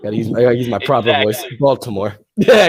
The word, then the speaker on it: Baltimore: Baltimore. Yeah, I gotta say the T. I don't even think people in America say it properly with a T.